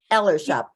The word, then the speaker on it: ELRSHOP: And the name ELRSHOP, is that how you pronounce it? ELRSHOP.